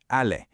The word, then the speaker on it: allée: it becomes elle est allée. And we actually have to add a silent E to the end of that participle. The pronunciation doesn't change at all, but in writing, that extra E is absolutely mandatory.